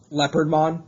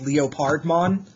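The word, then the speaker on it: Leopardmon: mispronouncing his name uh it's clearly leopard mon he's a leopard but some people can't see the force for the trees and they pronounce it bit by bit uh phonetically as leo pardman and that grinds my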